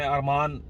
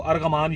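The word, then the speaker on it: Argaman: अरमान मतलब हम पढ़ेंगे उसको अरगमान यापी, ARGAM, ठीक है। तो वो ये जी चूंकि साइलेंट है अरमान यापी, लेकिन वो अरगमान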